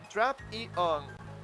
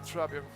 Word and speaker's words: Drapion: Rapping was including a segment featuring commonly mispronounced Pokemon names in 2025 Pokemon World Championships, where the pronunciation of the name was given as Trap-E-On. That was correct, Trapion.